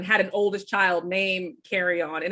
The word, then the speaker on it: Kerrion: an oldest child named carry-on and it's pronounced carrying on like the luggage you're taking on an airplane and i didn't realize